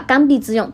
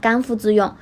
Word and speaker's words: 刚愎自用: 播采访的时候还把刚愎自用读成了刚愎自用，这真的是经常看书的水平吗？